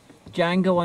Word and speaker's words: Django: We just saw Django Unchained. He gets very annoyed if you pronounce the D.